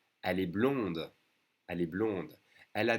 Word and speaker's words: blonde: But for a girl, you would say, elle est blonde. We add an E, that means you pronounce the D. Elle est blonde.